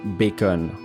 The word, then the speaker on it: bacon: Le bacon vient de l'ancien français bacon, qui aujourd'hui n'est plus qu'exclusivement prononcé à l'anglaise le bacon.